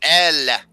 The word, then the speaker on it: Elle: Oh, L. The E is silent.